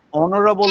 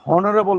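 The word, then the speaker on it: honorable: ঠিক আছে এটা খুব ইম্পর্টেন্ট কিন্তু এইযে দেখ আমরা অনরেবল বলি অনারেবল বলি আমরা হনরেবল বলি নাও হনবল বলি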